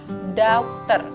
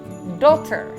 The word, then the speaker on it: daughter: dalam bahasa Inggrisnya itu orang masih suka mengucapkannya daughter daughter padahal sebenarnya bukan begitu penulisannya memang seperti itu tapi kan Ya beda ya Cara pengucapan dalam bahasa Inggris dan bahasa Indonesia itu berbeda ya teman-teman Jadi yang benar itu dokter Dia adalah anak perempuan